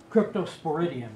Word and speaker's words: Cryptosporidium: Cryptosporidium.